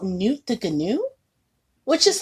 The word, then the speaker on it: Gnu: GNU, that's why he said there was no GNU, like good GNUs, but Gary GNU. I thought the G was silent. Well, normally the G is silent, but it's actually pronounced GNU.